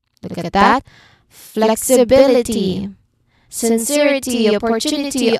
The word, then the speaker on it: sincerity: For example um ability no or um responsibility look at that flexibility sincerity opportunity all of them follow the same rhythm. Third syllable from the end is stressed.